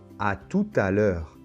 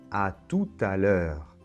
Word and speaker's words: à tout à l'heure: bonne et la lettre t final ne se prononcent pas non plus bonne alors une autre expression très connue c'est à tout à l'heure à tout à l'heure bon c'est peut-être un petit peu dur à